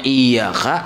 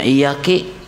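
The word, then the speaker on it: إيّاكَ: Yang harusnya iyaka dibacanya iyaki.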